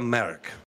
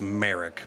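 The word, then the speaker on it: Marić: eventual wife um maleva merk i think i previously pronounced it incorrectly to you of any i believe it's merrick but um malevo merrick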